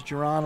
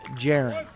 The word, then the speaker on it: Jaron: Got a 4-0 lead, but here's Jerron Likens. Oh, I'm sorry, folks. I mispronounced Mr. Likens' name. It's Jaron. So, Jaron Likens.